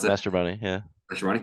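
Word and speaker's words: Mastrobuoni: And so I mean, whenever I see Mashaboni, is that how you pronounce it? Mastroboni, yeah.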